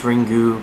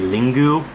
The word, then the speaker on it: Ringu: like it's ring but it's ringu because it's Japanese pronunciation technically it feels real Japanese pronunciation it would be lingu but whatever these are